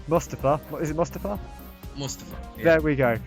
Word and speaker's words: Mustafa: Mustafa. Yeah. There we go. Right. All foreigners pronounce it like that.